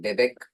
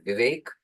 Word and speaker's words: Vivek: They used to get confused with Bebek, but this is pronounced as Vivek.